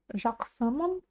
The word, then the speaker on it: жақсымын: Думаю, букву К в слоге жак вы уже знаете, как произносить. Дальше у нас идут во втором и в третьем слогах буквы «ы». «ы». Они произносятся очень кратко. Можете в транскрипции написать вообще без них. И звучать будет именно так, как и надо в казахском языке.